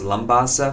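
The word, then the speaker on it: Labasa: We'll depart the United States, and then we'll arrive in Lambasa. It's pronounced Lambasa, Fiji.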